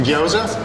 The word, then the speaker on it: gyoza: It's a gyoza? Gyoza. That's what I thought. Spell that, Michael.